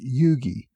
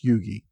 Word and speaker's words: Huger: pointed out that his last name is actually pronounced Yugi even though it's spelled h u g r it's pronounced Yugi so go figure this week I talked about